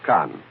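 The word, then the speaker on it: Caen: even is fighting proceeding in the town of Khan that's spelled c aen of course all of this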